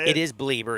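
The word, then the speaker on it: Bleier: It is Bleeber.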